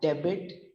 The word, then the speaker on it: debit: pronounced only as a debit or a credit card here the d e b i t remains as it is here b doesn't go out here it remains so be carefully not